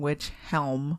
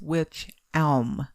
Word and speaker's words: Wych Elm: witch home the well it's actually which elm which i don't know why i kept saying which helm because it's spelled that well i kept in my mind i kept saying it in my mind which helm but it's which elm like geometry like yeah